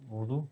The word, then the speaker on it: Urdu: Urdu? Ouais, bien vu. Ouais, bonne prononciation.